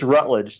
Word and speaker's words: Routledge: last name correctly it's Rutledge so just pretend there's no oh got it all right